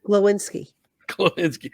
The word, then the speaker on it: Glowinski: And then Golowski, is that how you say it? Glowinski.